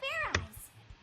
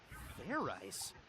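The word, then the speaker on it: Fairize: Alright, now that your tension's high enough, you can fair eyes. Fair ice? Is that sort of like fried rice? Idiot! It's pronounced fair eyes. There's no ice in it.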